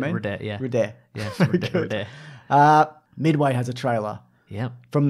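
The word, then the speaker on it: Røde: It's pronounced rude. Rude. That's why the O's got the line through it.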